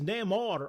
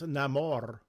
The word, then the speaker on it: Namor: you claim it here Prince Nar oh sorry I got to say it right Prince namore the Submariner sorry nice